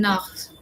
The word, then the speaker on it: Nacht: Guten Nacht. Guten Nacht. The pronunciation of ch is like k. You K. understand Hindi? Yes. Yeah, it's k.